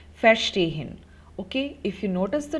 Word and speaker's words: verstehen: In case of untrennbare verb, the intonation is not on the prefix, verstehen.